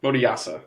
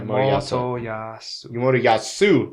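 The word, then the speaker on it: Motoyasu: Moriyasa. Yeah, Moriyasu. There's a U at the end. Oh. Moriyasu, with the big fat bird, as he would call her.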